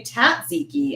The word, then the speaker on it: tzatziki: say tatziki instead of tzatziki, which is what I was taught. So tatziki is a popular pronunciation as well. I was right though about the T and one of the two being dropped.